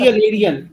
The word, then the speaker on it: aerial: Right before the suffix which has the suffix, right before the syllable which Ma'am, contains ma'am, aerial, material. material is not, there is no suffix. Aerial.